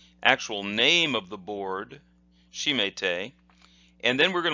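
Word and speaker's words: 締め: Here are the hiragana for those kanji, and the first kanji would be pronounced shime, shime, and then the second kanji would be te.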